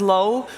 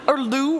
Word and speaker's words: Lou: the safe laners, because a name that is fairly unfamiliar to a lot of people across is Low, or Lou, which sometimes you also will hear that, but his official pronunciation is supposed to be Low.